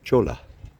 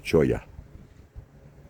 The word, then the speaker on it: cholla: In case you're interested, that plant is called cholla. Or maybe choya. Double L is this probably Spanish. Double L or Spanish is pronounced like a Y.